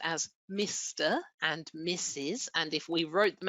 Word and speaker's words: Mrs.: These abbreviations are pronounced as Mr. and Mrs.